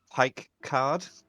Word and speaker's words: Picard: Is it Picard or Picard? It is Pike Card.